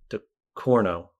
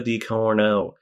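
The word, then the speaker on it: Ducournau: director is julia um watch me pronounce this last name de corno the corner maybe say it like a french person the corno de corno de corno julia dicorno um she has i think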